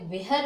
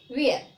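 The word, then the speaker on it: where: Okay, तो इसको कैसे बोलोगे, बेयर, वेहर नहीं, वेयर।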